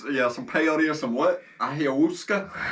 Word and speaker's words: ayahuasca: It's stupid, just I like believe the correct pronunciation is ayahuasca.